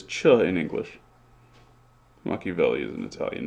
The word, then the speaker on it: Machiavelli: c both types okay what about machiavelli there's an h after that see and it says ka again so you can't say that ceh says cha in english machiavelli is an italian name